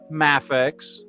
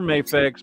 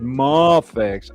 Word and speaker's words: Mafex: I will also accept Mafex. Mafex. Mafex or Mayex.